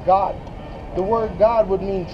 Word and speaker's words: Gad: reation nor American G Gad the way you pronounce that is God the word God would